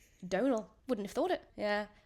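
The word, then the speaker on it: Domhnall: Donal.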